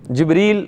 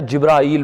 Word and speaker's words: جبریل: تھے، جو بھی تھے، جبریل بھی تلفظ ہے، جبرائیل بھی ہے، دونوں طرح سے ہے، ٹھیک ہے، الف کے ساتھ بھی اور الف کے بغیر بھی، دونوں طرح سے پڑھا جا سکتا ہے اسے۔ یہ بھی ایک بڑی